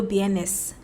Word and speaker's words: vienes: coming, you say cuando vienes. So even though it's V with a VNS in Spanish, Colombian Spanish, the V is pronounced B kakra, like silent B.